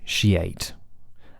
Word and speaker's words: negotiate: or but shin and the same thing applies with sheate like she ate a bowl of porridge